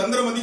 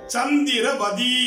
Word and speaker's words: சந்திரவதி: எப்படி சந்திரமதின்னு சொன்னீங்க? தவறு. மூல இலக்கியத்துல சந்திரவதி என்று இருக்கிறது. அதற்கு சொல்லுவார் பார்வதி, திலகவதி, குணவதி என்பது போல சந்திரவதி என்பதுதான் சரி. சந்திரமதின்னு சொல்லக்கூடாது.